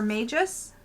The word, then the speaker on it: Magus: Magus, or Magus. M-A-G-U-S. I don't know how you pronounce this. Magus? Magus. Like a mage, right?